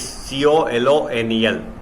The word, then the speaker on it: colonel: Now mind here the spelling of Colonel, it's C-O-L-O-N-E-L, but its pronunciation is Colonel, in Larkhan district now in Pakistan of Mohenjo-daro.